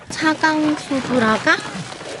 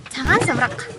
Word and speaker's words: Цагаан Суврага: 차강소브라가? 차강소브라가. 원어민 발음으로 차강소브라. 자간소브라카. 어. 자간소브라카. 차강소브라카. 차강소브라카. 차 아니고요. 차. 차.